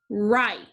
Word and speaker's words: write: one spell the word write like i will write neatly with my pencil the ghost letter digraph is wr so we spell this word w-r-i-t-e right number two knee knee